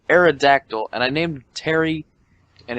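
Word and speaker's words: Pterry: I named him Terry, but he's an Aerodactyl, and I named him Terry, and it's spelled P-T-E-R-R-Y.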